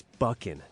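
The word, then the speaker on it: Buchan: I watched this contest Ace bucking Ace it's bucking thank you it's not it's bucking I didn't Adrien buckin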